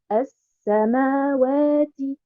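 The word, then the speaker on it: السماوات: Donc, en termes de prononciation, je dis as-sama, ma, as-samawati. Et en termes d'écriture, elle n'apparaît pas de façon visible.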